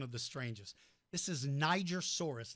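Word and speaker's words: Nigersaurus: the strangest this is Niger Soros named for Niger Africa or some people call it Nigeria source because of you if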